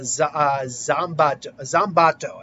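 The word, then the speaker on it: Zanbato: Basically the brawler, and he had a not Zanpakuto from Bleach, but Zambato, I believe it's pronounced.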